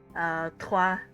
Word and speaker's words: trois: There's like the tr like sound at the beginning of trois, mille deux, mille trois.